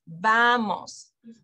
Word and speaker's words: vamos: to last syllable okay so you look at the syllables so Spanish is a syllabic language so vamos second to last syllable would be VA so that's where you put the emphasis vamos okay but if you ever